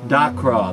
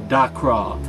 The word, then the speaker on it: Crawh: That's right, Crawh. That's spelled D-A-C-R-A-W-H. Crawh.